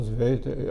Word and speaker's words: Zveiter: Sveiter. Agora, sabe como é que se escreve Sveiter, né?